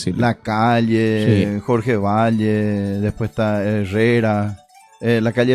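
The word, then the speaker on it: Batlle: ¿Vos sabés que Jorge Valle, por ejemplo, se escribe Batle, escribe, pero Valle se lee.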